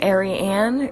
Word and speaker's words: Eirian: I'm here for it that's just not how I say my name I come from rural Montana where we say Crick and wassh and all that good stuff so I'm sticking with Ary an because that is how